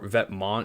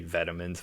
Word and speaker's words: Vetements: I've heard Vetements or Vetmont is like the proper way to say it, but some like Americans say vitamins, which I don't think is right because it's a French word for clothes, I believe.